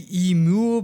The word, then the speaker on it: Emil: Because it could be Emul, but that would be more like Scandinavian, I think. Whereas again, the more Jewy pronunciation should be Emil.